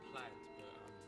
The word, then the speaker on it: Plaid: What's the proper pronunciation to that? We say plaid, but you can say it how you want. Probably use this. Yep. Yep, we say plaid. Oh, Blad.